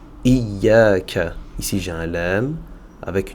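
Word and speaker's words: إِيَّاكَ: Ici, on va directement sur le ya, qui possède une shadda, donc je fais attention à ne pas dire iya, iya. Je vais dire iya, iya, d'accord? Le alif, ici, justement, va servir à prolonger la fatha sur la lettre ya, munie d'une shadda. Iya, iya, iyaka.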